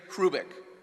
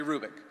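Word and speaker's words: Hrubec: H-R-U-B-E-C, Terry Hrubik. The H is not pronounced, Terry Hrubik.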